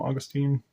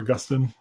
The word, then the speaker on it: Augustine: And then there's a little kind of quote there from Augustine, or Augustine, I guess, depending on how you want to pronounce it.